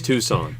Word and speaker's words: Tucson: Oh my god, you say it wrong. It's Tucson.